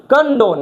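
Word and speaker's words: condone: कॉन्डोन नहीं है, ये कंडोन है। क्या है? कन। इसको कन पढ़ा जाता है।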